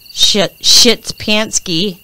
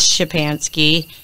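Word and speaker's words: Szczepanski: michael shits panski i know how to say it because i have polish kids but his name is shipansky who allegedly shot her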